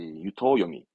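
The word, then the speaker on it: 湯桶: 그리고 그 물 들어있는 통을 토하니까 앞에 거는 뜻, 뒤에 발음은 음. 이렇게 묶인 애들을 유토요미노 칸지, 유토요미 합니다.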